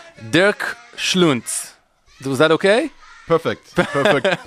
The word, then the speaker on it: Dirk Schluenz: Dirk Schluenz. Was that okay? Perfect. Perfectly pronounced. You said like Dirk Nowitzki and Schluenz.